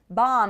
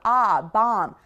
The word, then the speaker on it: bomb: Bomb is really open mouth. Bomb.